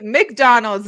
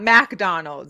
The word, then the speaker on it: McDonald's: But it's McDonald's, not McDonald's. There's a difference. Well, some people say McDonald's though. Well, and they're saying it wrong.